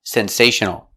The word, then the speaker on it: sensational: The L is a dark L back here. Sensational. Sensational. Sensational. 4 syllables. The stress is on the second syllable.